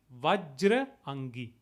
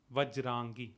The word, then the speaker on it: Vajrangi: Bajrangi is again a colloquial way of pronouncing it, the Avadhi influence in it. In Sanskrit, it would be Vajrangi, Vajrangi or Vajrang.